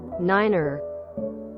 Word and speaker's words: niner: shouldn't be pronounced normally phonetic numbers have their own pronunciations to make them sound more distinct these are NATO standard for comms Z 1 2 three F 5 6 7 8 ner Niner is the phonetic spelling pronunciation goes along with